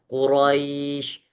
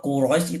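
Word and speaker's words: قريش: Jadi, kalau ee sebentar kalau Quraisy itu enggak benar Quraisy atau Quraisy gitu bacanya. Iya sama. Iya betul betul. Yang kedua, Pak Nugraho. Quraisy. Bukan langsung Quraisy. Quraisy, Quraisy. Itu salah. Bahkan kita berikan seakan-akan ro itu punya satu ketukan yang dibacakan.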